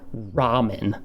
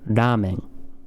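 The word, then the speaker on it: ラーメン: Touch the roof of your mouth. Touch it with your tongue, the tip of your tongue. Ramen. All right, it's not ramen. It's not ramen. It's ramen.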